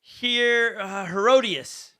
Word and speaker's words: Herodias: And he did this because of Herodias. Did I say it right? Mm-hmm. Herodias, his brother Philip's wife, whom he married.